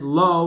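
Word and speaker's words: לו: So the way we pronounce it is lo with a vav.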